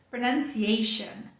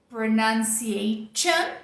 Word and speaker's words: pronunciation: S compridão é o som sh. Então, não é pronunciation, não tem som de T nenhum aqui. É o sh de chá, de xícara de chá.